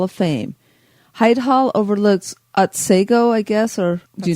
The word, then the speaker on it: Otsego: Hyde Hall overlooks Otsego, I guess, or do you know how to say it? Otsego.